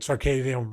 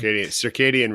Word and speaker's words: circadian: and trying to tire myself out which will throw your entire I can't never pronounce it right circadium Rhythm did I get that right circadian rhythm yeah did my silly accent